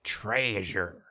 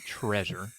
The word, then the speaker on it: Traysure: And I also want to point out that it's Traysure. not treasure. It's Traysure. You gotta pronounce the Traea, Traysure.